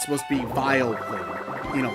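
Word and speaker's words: Vileplume: But I know that, like, reading it, it's supposed to be Vile Plume. You know, like vile, as in that thing's vile, disgusting.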